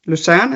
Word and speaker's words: Lucerne: Lucerne, is that pronounced correctly?